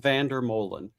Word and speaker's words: Vandermolen: it is so it's it's uh it's Vander Mullen Mullen I said well we had it right